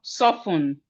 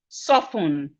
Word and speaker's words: soften: Then we have soften. Soften. Soften. The T is silent.